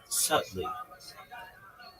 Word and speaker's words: subtly: Right. B is silent.